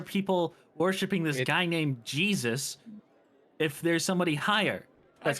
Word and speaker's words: Jesus: it's pronounced Jesus, not Yeah, Jesus.